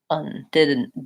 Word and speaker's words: didn't: sound didn't didn't didn't so I just closed from the D my voice the end didn't mmm and so it's kind of debatable how am i doing a vowel there mmm I'm not really doing uh nor and I'm not opening up for the vowel didn't I'm just holding my n longer if you have to think vowel think schwa that's the most neutral didn't didn't but I